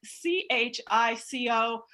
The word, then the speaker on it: Chico: happens to spell it c-h-i-c-o um but it's all the same family and uh we pronounce it chico so chico like you're